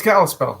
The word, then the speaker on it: Kalispell: city is uh cal kalispell am i saying that properly it's kalispell that's right right on um and